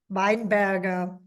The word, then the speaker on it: Weinberger: I had a friend from New Zealand, and she thought it was Weinberger, as in the drink and the type of food.